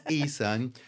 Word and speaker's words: Eason: And it's Eason without a T. It's Correct. not Eastman Kodak. It's Eason.